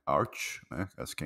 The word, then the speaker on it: Arch: me corrigiu aqui a a pronúncia não é Arc é Arch né acho que é